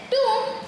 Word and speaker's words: tomb: Tomb rhymes with room.